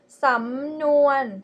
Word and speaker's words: samnuan: Okay, the first one is samnuan. Samnuan. The first syllable is high tone, rising tone. Sorry, the first syllable is rising tone, and the second one is mid tone.